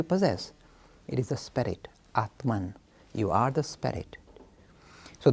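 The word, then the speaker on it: आत्मा: The Sanskrit pronunciation is Brahma, but in English we make it Brahman, and Atma becomes Atman.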